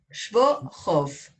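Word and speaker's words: Schwochow: es bueno acotar que Christian perdóname, ¿cómo se pronuncia, Isabel? Schwohoff. La Schwohoff, CH, sí, Schwohoff.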